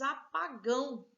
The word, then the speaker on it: apagão: Depois de órgão, nós temos apagão. Apagão, órgão, última sílaba, então oxítona.